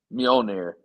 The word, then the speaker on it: Mjolnir: Mjolnir.